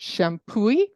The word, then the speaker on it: Champoeg: it's um a National Historic Park and it's pronounced shampooy and um there it's very close to the